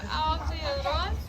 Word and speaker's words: Aotearoa: So this is the land of Aotearoa.